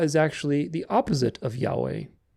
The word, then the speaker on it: Yahweh: God's name is pronounced Yahweh all vowels if you were to spell it phonetically it would be i a o u e i Yahweh emphasis on the second there's no heavy H is not yahu or